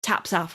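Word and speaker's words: taps aff: a really hot day what we call taps off weather which is tops off for you non-scottish speaking folks which is when folk walk around without their tops on were you just pronouncing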